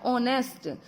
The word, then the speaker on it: ऑनेस्ट: तो इसमें H silent है। ओ एन इ एस टी हो गया ऑनेस्ट।